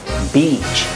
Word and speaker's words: beach: 하시면 됩니다 간단하죠 그래서 beach 길게 발음하시고요 그래서 beach 이렇게 발음을 하시면 됩니다 자 도움이 좀 되셨나요